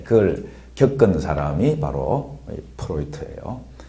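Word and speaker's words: Freud: 독일계이기 때문에 D 발음을 트로 합니다. 그래서 프로이트라고 읽으면 됩니다. 프로이드가 아니고 프로이트.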